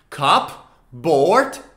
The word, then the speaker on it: cupboard: blackboard or a white board or a board cup board but together it's cupboard cupboard into your cupboard